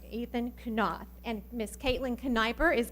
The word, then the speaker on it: Knopf: Is going to be Ethan Knopf. He's going to say the pledges. Did I do it wrong? Say it wrong. Knopf. I got my emphasis on the wrong syllable there. Ethan Knopf.